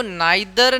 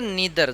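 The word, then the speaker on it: neither: Each every, देखो नाइदर नीदर दोनों ही pronunciation सही है। नाइदर भी बोल सकते हो, नीदर भी बोल सकते हो, आइदर भी बोल सकते हो, ईदर भी बोल सकते हो, दोनों ही सही हैं।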